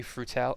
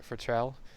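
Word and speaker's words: Futrelle: May um Arthur pan did again um May futel I can't say her name right Futrell and yes you wouldn't know and husband of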